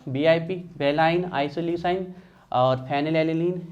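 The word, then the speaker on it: alanine: पी से है phenyl एनेलीन, phenyl एले, ध्यान रखिएगा, एले, एलेनीन। आप एलेनाइन बोलिए, कोई दिक्कत नहीं। तो देखिए कम से कम हमें स्टार्टिंग का वर्ड तो पता चल गया, VIP, वेलाइन, आइसोल्यूसाइन और फेनिल एलेनीन, है ना, फेनिल एलेनीन।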